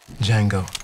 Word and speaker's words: Django: dirty what's your name d Jango d j a n g o the D is silent adult supervision is required